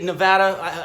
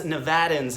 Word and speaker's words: Nevada: to say this because us Nevadans, that's how we would pronounce it, but everybody else and the rest of the world pronounces it Nevada. So I will, because that is your name, I'm going to pronounce it correctly.